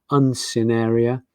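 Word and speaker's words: Uncinaria: That's how you pronounce that guy, Uncineria.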